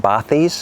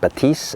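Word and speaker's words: Bathys: know it looks like bis and a lot of people that review these headphones call them B fair enough it looks like bis but the French pronounce it batis apparently so yes they are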